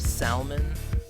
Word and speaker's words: Salmon: Salmon, like the fish. Yeah, the L is silent.